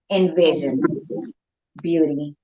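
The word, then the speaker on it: EnvyZion Beauty: It is spelled Envy Zion Beauty, but it's pronounced Envision Beauty.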